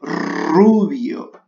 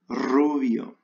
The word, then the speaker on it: rubio: Attention à la prononciation, vous pouvez répéter rubio. La R bien prononcée en espagnol, rubio.